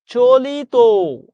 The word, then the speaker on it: চলিত: আপনি সহজে মনে রাখবেন কোন শব্দের শেষে যদি ত বা ইত থাকে ওইটার উচ্চারণ সবসময় ও এর মত হবে। চলিত নিজের কাছে নিজে প্রশ্ন